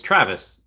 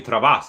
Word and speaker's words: Travis: It's Travis. Just spelled Oh, really? Oh, okay. I'm sorry. I've been calling you Travas, like a Spaniard brown person. But it's Travis, but it's spelled okay, all right.